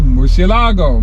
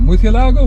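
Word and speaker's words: Murciélago: 2001 to 2 2010 Lamborghini Murcielago mutilago Miss yellow gold depends how you want to pronounce it nah this thing is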